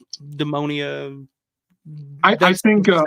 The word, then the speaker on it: Demonia: Yeah, I remember the first time hearing the Demonia. How do you pronounce it? I think it's Daemonia, Dae.